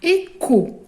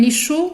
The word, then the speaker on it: écho: Un képi, une équipe, un kiosque, un cri, un karatéka, un écho. Regardez, ça s'écrit avec CH, on ne dit pas un écho, on dit un écho.